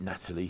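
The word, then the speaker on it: Nathalie: or Natalie Natalie Emmanuel and she pronounces it Natalie sorry it's just a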